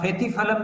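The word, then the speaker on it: Spathiphyllum: हाँ, फेथीफलम भी कहते हैं। SPTH ऐसा कुछ स्पेल है उसका, S से शुरू होता है, S साइलेंट है, SPTH FELIUM, ऐसा फेथीफलम,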